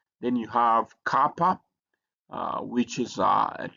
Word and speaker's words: kappa: So that that that's y then you have kappa uh which is uh it looks like k because it also has a k sound like k in kitchen.